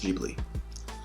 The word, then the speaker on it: Ghibli: that it's pronounced online it is uh it's pronounced Ghibli um so just a lot of you know